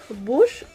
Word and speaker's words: Bosch: so that's it guys so the brand is bush just right pronounced that part it's not clean because i